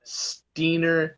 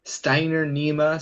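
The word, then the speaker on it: Steinernema: he was asking what was the nematode that's steener steiner nema so s-t-e-i-n-e-r-n-e-m-a and then felsie l-f-e-l-t-i-a-e fell she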